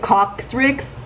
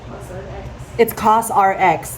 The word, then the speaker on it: COSRX: I pronounced it Coxrix. It's CosRX, not Coxrix.